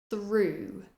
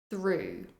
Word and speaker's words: through: the r th and again the GH is silent through through they drove through the